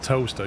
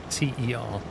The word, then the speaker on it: Towcester: Like if you look at the spelling of toaster compared to how you say it, it's Yeah. ridiculous. How did you spell it? Towcester. It's like Towcester, and it's Wait, pronounced yeah, and it's Yeah. pronounced toaster. Toaster.